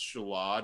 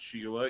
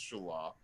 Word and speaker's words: Shelah: And I have another son, Shelah, which, I'll pronounce Shelah, not Sheila, even though it's spelt that way. It's Shelah.